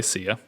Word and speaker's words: Sia: have music by sia i pronounced it i put it into psy earlier which i always did apparently it's been on sia which i learned only from